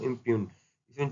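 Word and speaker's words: impugn: इसका better synonym देखो इप जी साइलेंट होता है इम्यून क्या होता है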